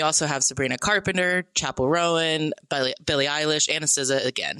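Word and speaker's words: Roan: You said Chapel Rowan. I've always said Chapel Ran. This is an AMX situation. Am I saying it wrong? It's It's two syllables. Rowan.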